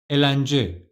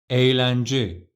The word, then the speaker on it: eğlence: And the next word, let's say yumuşak G wasn't here. Then it would have been elence, elence. But yumuşak G is here and the right pronunciation is eğlence, eğlence.